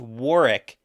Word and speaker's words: Warwick: but apparently it's pronounced Warick because why wouldn't you leave that why would you say the W yeah the second though